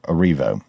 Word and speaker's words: Erivo: You guys remember her, Cynthia Erivo.